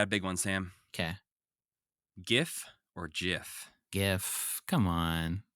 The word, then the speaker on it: GIF: Upon accepting the award, Will Hite, who invented these things, displayed a 5-word slide that simply read, in all caps, it's pronounced GIF, not GIF.